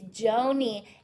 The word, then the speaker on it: Joni: togetherness okay Joni it's Joni and I'm not gonna forget it because she literally spelled it out phonetically Joe k-n-e-e-nee I spell my name